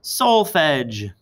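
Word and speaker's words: solfège: mi fa solatido the real name for those syllables are solfege can everyone say solfege s-o-l-f-e-g-e solfege now um these hand signs people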